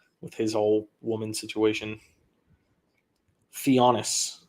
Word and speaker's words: Thanasis: his whole woman situation theonis theonis theonis not thanasis it's spelled thanasis theonis got it I will